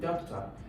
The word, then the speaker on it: doctor: So when you call it doctor, you can see that the primary stress, doc, is actually longer than talk. So there is an emphasis, there's a stress on doc.